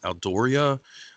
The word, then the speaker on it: Aldourie: And after a time, they start to become deposited in a castle, which I believe is pronounced as Aldoria.